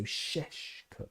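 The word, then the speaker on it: Šeško: In his name have little V's on top. V's, turning it into an SH sound. So Sheshko.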